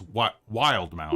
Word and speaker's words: Wildemount: I can never know how to pronounce Wildemount or Wildmount. It's Wildmount, Usually right?